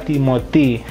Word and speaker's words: Timothy: Timothy Castagne karena H tidak dibunyikan, Y berbunyi I. Nah, tapi ini kombinasi IM, kalau teman-teman tahu teori pelafalan harusnya kan bunyinya ang, tapi tidak karena terpisah oleh penggalan. I-nya bersama T, M-nya menemani si O, maka Timothy.